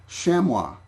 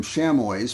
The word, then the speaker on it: chamois: not deer they are shamwa now i've been pronouncing them chamois for for ages because i didn't know that it was a french word and that the connect